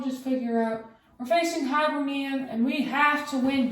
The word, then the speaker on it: Hibernian: Hibernian.